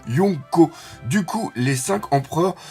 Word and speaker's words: Yonko: d'accent ou de mâcon se prononce bien lyon co du coup les cinq